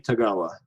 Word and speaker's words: Tagawa: Kiri Hiroyuki Tagawa.